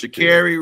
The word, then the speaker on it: Sha'Carri: My girl, Sha'Carri, is it Sha'Carri? You said it right. It's Sha'Carri Richardson, man.